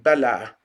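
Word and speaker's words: Bilhah: then we have bill now it's spelled in in most english scriptures b-i-l-h-e-h but in in arabic in hebrew and semitic roots it's certain it's more like bella bella that's that's how it sounds and she's she's another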